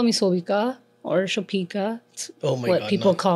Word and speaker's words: Sobika: Okay, my name is Sobika. Yes. It's Sobika. Well, that's how it's pronounced, but people get thrown off by how it's spelt. Right. So that's kind of why, because they like try, they end up butchering my name. Yeah. So I have to be like, it's Sobi, like the grocery store.